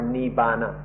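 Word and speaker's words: nibbāna: In Thai this word is nepan nepan or in pali neipana or in written in the west we pronounce it more nibbana and then in Sanskrit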